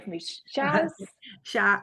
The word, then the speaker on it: Shaz: your name for me Shaz sha I go by Shaz just because my full name is harder for English speaking people to uh pronounce my full name is